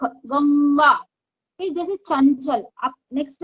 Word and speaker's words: गंगा: तो यहाँ पे क वर्ग का प्रोनाउंसिएशन है तो इसका प्रोनाउंस क वर्ग का पंचमाक्षर है, इसलिए उसका प्रोनाउंसिएशन उंग होता है, शंख गंगा।